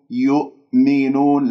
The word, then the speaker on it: يؤمنون: لا لا لا يؤمنون لا تسحب ضمة الياء إلى الهمزة الساكنة لا تقول يؤ شوفوا غلط يؤ ليش؟ لأنه أنا نطقت الهمزة ولا زالت الشفاه مضمومة إذن لا يؤمنون الهمزة هذه من الأخطاء الشائعة فيها أنه ممكن أقلقلها أقول يؤمنون أو أقول همزتين يؤمنون لأني لم أقفل الأوتار الصوتية تماما أنا أفكك الكلمة ثم